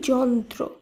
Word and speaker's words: যন্ত্র: একইভাবে এই নিয়ম অনুসারে অন্তস্থ জ দন্ত নয় তয় র ফলা এই শব্দটির উচ্চারণ হবে যন্ত্র।